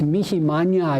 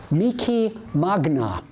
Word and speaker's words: Magnificat: difference in pronunciation so instead of Korea fetch eat Mickey Manya you will hear Korea feets eat Mickey Magna it's a much harder sound the Italians have a